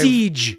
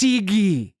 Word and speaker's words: Siege: Nine episode The Siege of AR uh five Siege yes it's not pronounced Ziggy would I oh no Siege it's pronounced Siege